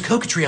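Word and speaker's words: coquetry: I'm trying to use coca Tree on you wait hahaha word of the day coca tree c-o-q-u-e-t-r-y it's a noun use it it's a good word it's a three-syllable word you got this coca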